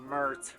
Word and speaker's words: Mert: The name is Mert. Rhymes with dirt.